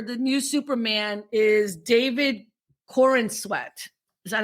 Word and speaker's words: Corenswet: So the new actor for the new Superman is David Corenswet.